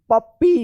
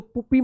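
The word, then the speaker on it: puppy: इसको पढ़ा जाएगा cute P U double P वाई पप्पी इसको पुप्पी मत पढ़िएगा क्या पढ़ेंगे पप्पी पढ़ा जाएगा तो देखिए यहां पे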